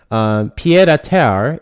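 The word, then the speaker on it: pied-à-terre: Pied à terre is the pronunciation.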